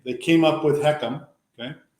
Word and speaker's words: HECM: and and you just helped me by saying heckum now that I have an actual way to pronounce h e CM I feel much better